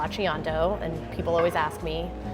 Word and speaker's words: Lachiondo: last name is a little bit hard to pronounce it's Lando and people always ask me how do you